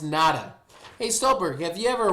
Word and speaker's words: NATA: Stolberg is a member of the National Trainers Association, also known as NATA, pronounced NADA.